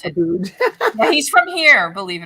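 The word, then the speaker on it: Abboud: I don't, but just so you know, the other one is Joseph Aboud. That's how you pronounce it. Aboud.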